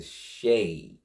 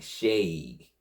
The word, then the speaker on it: Shaykh: And when I kept looking it up, kept looking for the pronunciation, it kept going back to Shay. They kept saying it like Shay. They wasn't saying like different. It was Shay, like Shay.